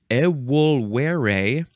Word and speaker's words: evolvere: This is from the Latin evolvere, because the V's are W's.